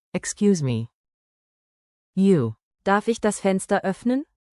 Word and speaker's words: Darf ich: Say Darf. with a clear F, then the soft German Ich. sound, like air slipping over your tongue.